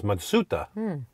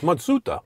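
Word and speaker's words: Matsuda: it isn't even Mazda the real name is matsuta yep it's matsuta this is kind of a bit of an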